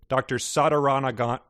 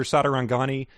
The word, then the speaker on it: Sadarangani: It's like, is that second pronunciation Sadarangani? Okay, so it's not Sadarangani. Yep. I added a syllable.